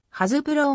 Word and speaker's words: Hasbro: 場合も多いが実際の発音はハズブローが近いとされ日本